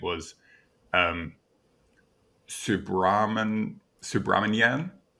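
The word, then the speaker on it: Subrahmanyan: Chandra Seikka, whose first name was um Subraman Subramanyan, got it. Uh, is that I I hope I'm pronouncing that correctly.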